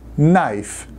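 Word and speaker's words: knife: muito cuidado com essas algumas das palavras que começa com k em inglês não se pronuncia ôca uma delas é o verbo conhecer saber que no no e outra palavra faca nas tão saber conhecer no a faca naif não renunciamos a letra k agora é essa um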